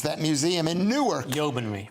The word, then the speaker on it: Yeomanry: It's the Yeomanry man, I don't know how to pronounce that, museum in Newark. Yeomanry. Yeomanry.